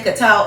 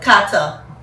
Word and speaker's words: Qatar: karta cuz you know we were saying kqatar all along but kata is the official way to pronounce it and they was like